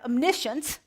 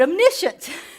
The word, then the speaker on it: omniscience: pronouncing them all right first we have omniscience not omniscient but omniscient omnipotent y all you